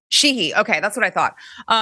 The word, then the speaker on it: Sheehy: Sean, tell me how you pronounce. Is it Tim Sheehy or Sheehy? Yeah, Sheehy. It's Sheehy.